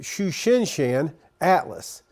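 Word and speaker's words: Tsuchinshan-ATLAS: look for tonight this is Comet shushin sh Atlas is the way to pronounce that and this is looking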